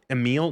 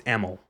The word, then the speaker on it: Emil: It it you think it's pronounced Emil. No, it's it's Eml.